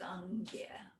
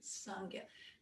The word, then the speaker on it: Sangye: Also, the word for Buddha in Tibetan is Sangye, right? Sangye. And so it consists of these two syllables, sang and gye, right?